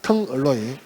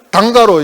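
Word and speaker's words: Tungaloy: 텅얼로이. 그 텅스텐하고 알로이 합쳐갖고 이제 텅얼로이 하는 건데, 그 텅얼로이를 일본 분들이 그 발음을 잘 못해요. 그래서 단가루 이렇게 합니다. 단가루.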